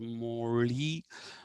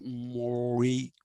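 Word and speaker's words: mozhi: tyui Mori uh m o zhi is not pronounced Mory but it is pronounced Mori so it was tiai Mori that uh is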